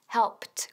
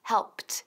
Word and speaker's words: helped: Helped, helped. Cuidado con la pronunciación, que no es helped, sino helped. Fíjate, helped. Repite conmigo. Helped. Pt. Muy bien.